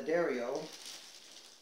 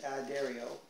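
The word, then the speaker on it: D'Addario: are they're not and that's how it's said the derry-o not the DI Dario okay so good for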